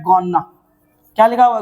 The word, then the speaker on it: gonna: उसकी जगह पे आप बोलेंगे गॉना क्या बोलेंगे गना बोलेंगे गना ठीक है ना ये ध्यान रखना